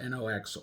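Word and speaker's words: НОКС: Pronounced NOX or NOCKS or NOKS, whichever way you spell NOX, but that basically is how it's spelled and sounds.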